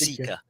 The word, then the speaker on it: Sika: down in Maryland hunting Sika seek seika it's pronounced seaa de while I was down there hunting seea there was uh I was checking some Facebook